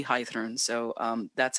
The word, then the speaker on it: Heiðrún: languages you are correct it is supposed to be high through and so um that's